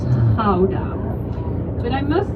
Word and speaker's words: Gouda: You probably pronounce it as Gouda. Am I correct? Yes. Yep. Right, but in Holland we say Gouda.